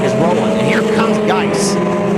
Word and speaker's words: Geis: Cook is rolling, and here comes Geis. Looks like it's spelled like juice, but with a G, and he's got plenty of that right now.